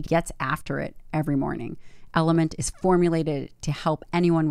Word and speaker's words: LMNT: the podcast and that's element pronounced element but actually spelled lmnt phenomenal phenomenal product they